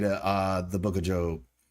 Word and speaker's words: Job: Jo O B, but it's Job cuz that's how it was pronounced uh or that's how it is pronounced properly.